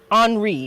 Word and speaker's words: Henri: to steer the country's political course as king Henri is actually how it's pronounced descends into mental illness in 1820 King